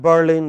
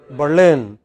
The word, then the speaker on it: Berlin: capital of Spain okay so in English it is pronounced not as Madrid what else Madrid not at Berlin but Berlin not at Brazil but Brazil very erratic you know